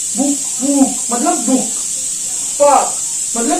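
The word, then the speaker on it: Buch: इसके अलावा हमने पढ़ा कि अगर इन 7 के अलावा कोई और अल्फाबेट सी एच से पहले लगता है, ठीक है, तो उसकी जो साउंड है वो क्या करता है, उसकी साउंड बना देता है वो खा, खा गले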